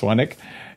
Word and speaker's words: Swanwick: Swanwick, pronounced Swanwick.